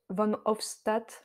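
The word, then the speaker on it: Van Hoofstadt: parole aux réalisateur Olivier van Hochstatt je crois qu'il prononce van hofstat moi je le prononce à l'Allemand c'est une déformation moi je voulais faire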